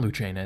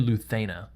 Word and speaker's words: Lucena: I say Lucena because that's how an Italian would pronounce it, and I'm just used to saying it that way, but I think it's actually Luthena, because it's Castilian Spanish, I think it is.